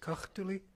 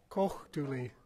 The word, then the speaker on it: Kochtuli: And I guess before I start with that, Philip Ackelcock has pointed out that the pronunciation of the river is Kochtuli. Kochtuli.